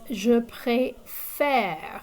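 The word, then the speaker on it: préfère: the other one is je pre faire it's more like the english word fair f-a-i-r it's pronounced like that that e is kind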